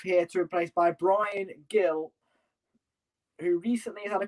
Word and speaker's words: Gil: Some people pronounce Hill or Gill. I would say Gill.